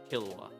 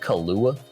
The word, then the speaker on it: Killua: you used to say Killua, why do we not talk about that? Just because I said it wrong really badly. I think I said Kahlua.